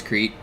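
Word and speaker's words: Crete: the way I pronounce Crate. And I know it's Cree, the island in Greece, but I learned the nations of the world from the animeaniacs. And Yako pronounces it crate.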